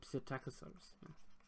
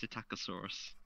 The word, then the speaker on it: Psittacosaurus: Oh, Psittacosaurus. Because I didn't, because of course it has the silent P at the start, and that really confused me.